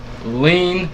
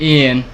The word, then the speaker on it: Iean: me behind the dumpster but his name is lean like codin it's Ian Ian which I just realized earlier if